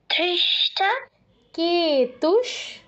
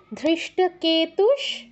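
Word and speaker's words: ধৃষ্টকেতুঃ: পারছি না বলো ধৃষ্ট ধৃষ্ট কেতুস কেতুস চেকিতানক চে কেতানক আবার ধৃষ্ট কেতুস ধৃষ্ট কেতুস ধৃষ্ট নয় ধৃষ্ট ধ ধৃষ্ট ধৃষ্ট কেতুস কেতু বলো ধৃষ্ট কেতু কেতু নয় কেতুস ধৃষ্ট কেতুস ধৃষ্ট কেতুস চেকিতানক চে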